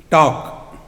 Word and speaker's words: talk: in psychology isn't it L is silent in talk K is silent in